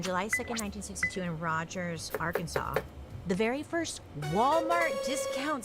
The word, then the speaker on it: Arkansas: Why do we pronounce it Arkansas? Because it's like our Kansas.